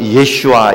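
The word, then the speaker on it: ישוע: 있습니다 그래서 어 그 예수님의 이름도 역시에 히브리 식으로 발음하면 예슈아 있데 그 예수님의 이름도 역시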